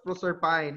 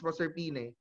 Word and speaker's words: Proserpine: You don't name it as Proserpine, it's Proserpine. But the problem there is, what if that Proserpine name is expressed in possessive form?